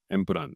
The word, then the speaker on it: Empuraan: introduce Mohanlal sir and Prithvi sir for L2 Empuraan. I should be pronouncing it right? Correct. Empuraan, yeah.